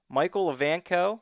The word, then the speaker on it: Michael Evanko: With us this week, Micheal Evanko. am I saying that right? Yes, you actually did a great job of pronouncing that.